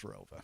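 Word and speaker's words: ROWVA: There was an additional town added after I graduated, but it's always been pronounced as Rova.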